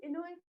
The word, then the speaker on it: Enoe: ¿O cómo se pronuncia tu nombre? Hola, y sí, Enoe, tal cual, Enoe.